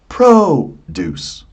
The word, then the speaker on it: produce: So, where is the stress? Produce. It's at the beginning. When it's at the beginning, it's a noun.